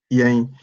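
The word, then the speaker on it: yɛn: Yang. But it's not yen, the N sound at the end of every word is not n. We sound it as if it is a Y or an I.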